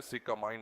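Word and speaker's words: sycamine: यह कंबली का पेड़ है जिसे अंग्रेजी में सिकामाइन कहते हैं। जिसकी spelling S वाई सी एम आई एन ई है।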